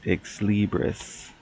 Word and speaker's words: Xlibris: You can also find the book at Exlibris. That's spelled Xlibris. Exlibris.